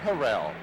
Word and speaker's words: Harrell: Got a back at Green Bay now, Willard Harrell. He wants to be known as Willard Harrell.